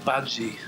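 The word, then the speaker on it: Badguy: His surname was Bad Guy, but he pronounced it Badji.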